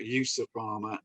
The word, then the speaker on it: EUSA Pharma: out very differently um essentially it's a combination of europe and usa usa that's how the